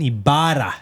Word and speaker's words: Ybarra: Comedian, actor, awesome guy, Dustin Ybarra. How you doing, man? Ah, thank you. Oh, you did that good, man. Yeah, you Ibarra. gotta roll Ibarra.